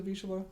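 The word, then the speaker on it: Vizsla: he's a v v did I say he's a visha I don't think he said that's the name it's spelled like v i z s l a it's great it's Hungarian um but they're great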